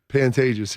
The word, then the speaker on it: Pantagious: It's like contagious with a P. That's what they said. I go, "How do you pronounce his last name?" And then Austin goes, "It's Pantagious."